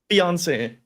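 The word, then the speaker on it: fiancé: pronounce that word correctly. Mango Eric, how do you chanting? say fiance?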